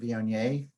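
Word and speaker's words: Viognier: uh on board here vionier rhymes with may you can drink it every damn day uh the lines from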